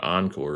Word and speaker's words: Ankur: We worked with a guy named Encore as well. It was spelled Ankur, but it's pronounced Encore.